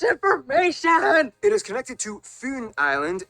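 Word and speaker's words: Fyn: that's too much information it is connected to foon island not finn island by the great belt bridge completed in 1998.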